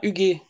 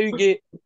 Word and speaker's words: Huguet: Huguet, tu l'écris Huguet. Absolument. Ouais, donc ça se prononce UG. Non, Huguet? Non, si un U derrière le G, ça fait que c'est un G, c'est pas un J.